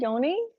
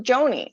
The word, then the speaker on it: Joni: Hi, oh, hi, Yoni. I think I saw Yoni. No? Yeah. Joni. Is it Joni? I thought it was Yoni. I thought someone told me I wasn't saying it right. So it's Joni.